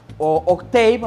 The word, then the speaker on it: Octave: que mañana toque tierra octava octava más bien es la pronunciación correcta como depresión tropical pero